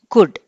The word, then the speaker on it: could: Okay, would కి rhyming word is కుడ్. కుడ్లో ఎల్ అనేది మనకి సైలెంట్ లెటర్.